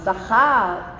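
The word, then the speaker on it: זכר: Right, remember, get your guttural on. Zachar.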